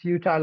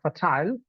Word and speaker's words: futile: sure at that moment if it is futile or fertile and if I had